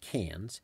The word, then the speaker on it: Cairns: after Sydney and Melbourne Cairns pronounced Cannes is basically the Miami